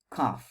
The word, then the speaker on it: cough: Итак, кашель – это cough, cough. В конце мы произносим f.